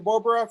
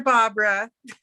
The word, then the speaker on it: Barbara: Bobra from Scottsdale Community College, go ahead. Hi, it's Dr. Barbara. Dimitri, one day you're going to say my name right.